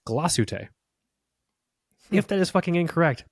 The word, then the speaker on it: Glashütte: I was corrected on my pronunciation of Glashütte. Really? Glashütte recently. I was corrected. It's Glashütte.